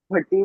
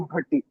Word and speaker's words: भट्टी: भट्टी मेरी कास्ट है, इस भाटी नहीं भट्टी।